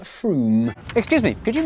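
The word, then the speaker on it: Frome: from f-r-o-m-e it should be blitheringly obvious it's pronounced froome excuse me could you mispronounce froome for me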